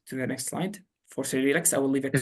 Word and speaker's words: Cyrilix: So I like to pronounce it like Cyril, like Cyrilix, but you can pronounce it however you like.